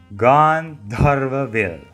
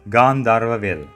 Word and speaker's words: Gandharva Ville: To pronounce the word one last time, it's Gandharva Ville. But it's also fine if you pronounce it as Gandharva Ville.